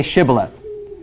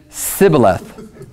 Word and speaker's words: Shibboleth: a V for him say Shibboleth and he said Sibyl ax so apparently they couldn't say the SH sound for you could not